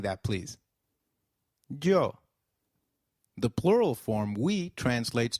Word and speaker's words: yo: please noos and no the Y is pronounced like the English Y in some areas sounding just as it would in English while in others it